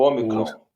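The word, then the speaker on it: ὂ μικρόν: Pronuncia-se mais O. Vamos colocar como O, Tá. né? A palavra óleo. Óleo. Então, Omicron. Omicron.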